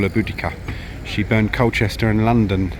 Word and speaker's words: Boudica: That is Queen Boudica, or Boudica, depending on how you wish to pronounce her, and on her chariot with her daughters.